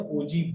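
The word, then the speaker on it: ogive: इसका जो प्रोनाउंसिएशन होता है ओ जी डबल ई, ओजीव, है ना, ये प्रोनाउंसिएशन, ठीक है।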